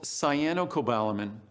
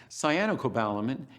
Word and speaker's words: cyanocobalamin: market, is something called cyanocobalamin. Cyanocobalamin, cyano sounds like the word cyanide, and cyanide, most of us know, is a poison.